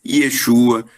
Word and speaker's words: Yeshua: Então, este Salvador, esse Yeshua, como se fala lá no hebraico, né?